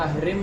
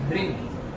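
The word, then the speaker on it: ह्रीं: है देखिए पति में इसका उच्चारण ग कांत करना है अर्ध गरांत हरिण या हरिम नहीं बोलना हरिण या हरिम नहीं बोलना इसम हरिंग अर्ध ग कारा ठीक है जैसे अंग्रेजी में किंग लिखते है के आई एन जी किंग ऐसे ही बीज मंत्र का उच्चारण भी अर्ध गरांत करना है ठीक है हरिंग एंग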